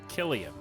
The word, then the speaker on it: Cillian: have another Kim Field power generator it's pronounced Killian okay not not to me it's not